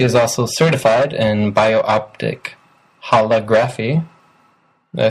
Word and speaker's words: holography: Holography, like whole or all of it.